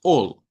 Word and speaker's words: all: par de la L, cuando la A está a la par de la L, suena con una O corta. Por ejemplo, si usted va a decir todo de algo, sabemos que se escribe así, pero usted debe pronunciarlo con una O corta y decir all, no al, es all, that's all, ¿ok?